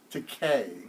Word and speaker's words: Takei: in that matter yes he says George Takei not in the a that's a Kai it's the k no not in the air it rhymes with George the gay now there's anything wrong